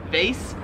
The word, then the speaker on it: vase: in american english as vase whereas they're here in australia they pronounce it vase so the way oh that's a lot more subtle than vaz we say it like it rhymes with like face like your face they